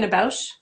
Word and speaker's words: Pina Bausch: Pina Bausch.